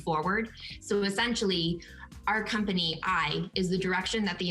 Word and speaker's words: Aille: So that's a common question that we get, is why is it spelled similar to the pronunciation of ale, but pronounced I?